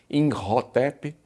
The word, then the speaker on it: Imhotep: pelo menos desse nome talvez não com esta pronúncia exatamente alguns né Colocam um pouquinho mais de Egito n na pronúncia do nome como in rotep Mas no fim nós